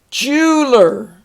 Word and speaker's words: jeweler: Jeweler, and that vowel there, I think, is not pronounced.